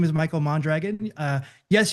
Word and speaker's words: Mondragon: Um uh about me, my name is Michael Mondragon. Uh yes, you can roll your Rs if you want to, but I don't get that fancy.